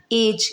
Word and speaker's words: edge: जैसे EDGE, एज। यहाँ पर जी से पहले डी आया है तो यहाँ पर एज ना बोल के इसको एज बोला जाएगा, यहाँ पर डी साइलेंट रहेगा।